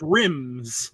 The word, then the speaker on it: Rymez: It could be perfect for it and super valuable, which is rhymes, spelled RYMEZ. Okay. You can't spell it with less letters, right? Right. .io, right? Otherwise, so, it's rims.